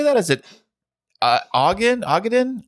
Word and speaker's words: Ogden: how do you say that is it aen Ogden Ogden Utah Ogden Utah now another Utah on this list it says it's north of stake City so um I know nothing about Ogden I know nothing about Utah other than I've